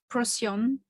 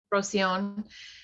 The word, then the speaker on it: Procyon: How do you pronounce it? Procyon. Procyon.